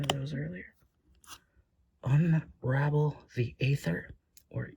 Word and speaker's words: Aether: those earlier unravel the Aether or ether uh I think it's pronounced ather but I know that's quite a debate uh on how to